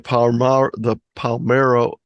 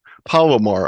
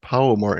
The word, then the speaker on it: Palomar: I'll be doing the Palmero Amateur Radio Club. Palomar, I keep pronouncing that wrong. Palomar Amateur Radio Club.